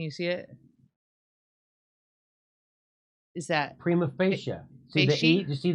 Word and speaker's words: prima facie: that that's all e it's like a long e oh really hmm I'm